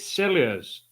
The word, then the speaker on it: Silures: Somebody's asking how you pronounce the name again. Is it Silures?